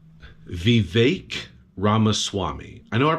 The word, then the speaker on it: Vivek: So it's Vivek Ramaswamy. I know I pronounced his last name properly, but I was saying his first name wrong. I was saying Vivek, but apparently it's Vivek.